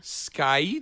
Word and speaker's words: Skye: The E is silent, but okay, whatever. Yeah. Skye.